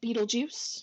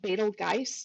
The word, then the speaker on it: Betelgeuse: So this star that I have circled is a star named Betelgeuse. You may also hear it called Betelgeuse. There's a couple of different pronunciations that people use.